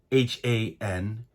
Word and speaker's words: Hans: player and that is hands lobert and before anybody corrects me I understand that the name hands h-a-n-s is usually pronounced Hans most people pronounce it Hans but I did hear hands himself speak his own